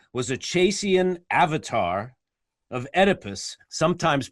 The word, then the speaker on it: Oedipus: it's clear junior was a chasian avatar of oedipus sometimes pronounced edipus baccala is the fish which of course corresponds